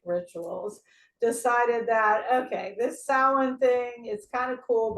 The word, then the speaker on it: Samhain: Samhain. It's like, it is so hard because your brain sees it, and this is how it's supposed to be pronounced, but it is in fact, it's a Gaelic word, and you know the